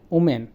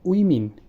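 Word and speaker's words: women: আমরা বলি ওমেন, এটা হবে উইমিন।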